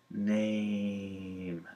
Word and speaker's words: name: Well, it's because the long A in name sounds kind of like an eh plus an e, aim, and they just weren't catching the e sound at the end.